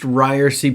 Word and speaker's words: Ryerse: this is ryerson this is the it's pronounced ryersy podcast now i want to welcome you to